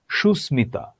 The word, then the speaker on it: সুস্মিতা: অপরিবর্তিত থাকে, যেমন কুষ্মাণ্ড, সুস্মিতা, কাশ্মীর। এটার উচ্চারণ হবে সুস্মিতা, কিন্তু যদিও সুস্মিতা বলে থাকে কিন্তু সুস্মিতা নয়, এটার বাংলা একাডেমি অনুযায়ী এটার শুদ্ধ উচ্চারণ হচ্ছে সুস্মিতা।